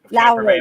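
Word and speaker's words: David Lowery: Dave Lowery? Yeah, Lowry. Camperman Beethoven. Mhm. Is it Lowry? Okay.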